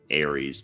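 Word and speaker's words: Ares: Aries, the zodiac sign, is phonetically identical to Aries, the Greek god of war.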